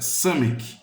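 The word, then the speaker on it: Samekh: Seção 15, Samek, aliás, a pronúncia Samek, 103 a 120, eu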